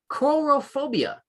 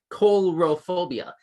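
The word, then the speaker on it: coulrophobia: i didn't know this coral phobia c-o-u-l as in like phil coulson from marvel it's spelled that same way with that same prefix c-o-u-l color phobia is the official name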